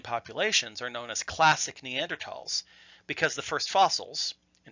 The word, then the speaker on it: Neanderthal: was th al but German has always been pronounced with the hard T not the English sound when the word was